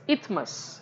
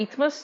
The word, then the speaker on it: isthmus: Moving towards the third part, that is isthmus, right. S is silent, right, it is not isthmus, it is called as a isthmus.